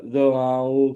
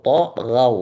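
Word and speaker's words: طغوا: Wa fir'auna zil autad alladzina dza'u fil bilad Ulang. Allazi alladzina dza'u fil bilad kali lagi Pak. alladzina dza'u fil bilad. Yang benar. Nataghaw, taghaw bukan za, taghaw.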